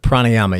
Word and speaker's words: pranayama: Was it pranayama? Is that how you pronounce it? Pranayama, yeah.